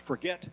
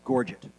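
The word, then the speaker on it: gorget: It looks like it's to be pronounced forget, but it's not. It's called pronounced gorgget.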